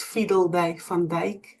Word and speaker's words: Fiedeldey-Van Dijk: So, um, it's fiddle day fand.